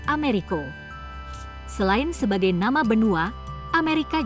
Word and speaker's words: Amerigo: Dalam bahasa Spanyol, Amerigo memang diucapkan dengan bunyi Americo.